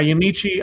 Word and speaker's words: Yamiche: never remember how to say her name it's yamichi yeah yeah yamiche alcindor who is a reporter and she tweeted